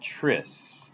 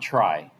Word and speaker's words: Tris: this is It's called Tris not try it's called Tris parentheses ethylene dimene now